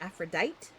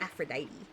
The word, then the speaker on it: Aphrodite: Not gonna lie, I always thought it was pronounced Aphrodite with the silent E at the end. Fair enough. It's Aphrodite.